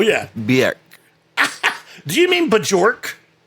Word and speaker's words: Björk: Do you mean Bjork? Björk.